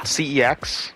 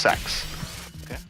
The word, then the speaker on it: CeX: So, they had a company uh called CEX. Well, okay, it's not technically pronounced CEX, but the real way to pronounce it is really stupid, so people can call it CEX.